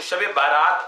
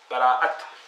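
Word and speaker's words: شب براءت: تو شب بارات کہا جاتا ہے بعض جگہوں پر، تو خیر وہ غلط تلفظ ہے. شب براءہ، براءت، لیلۃ البراءہ، لیلۃ البراءہ.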